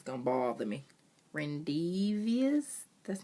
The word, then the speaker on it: rendezvous: Rendezvous?